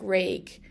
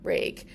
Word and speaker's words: réidh: For example, ray here is pronounced like a ray of sun in Connacht and Ulster, but in Munster it'd be more like rake.